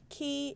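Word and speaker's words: Quay: So Stonegate is the dark gray, Key is the blue, and that's spelled Q-U-A-Y.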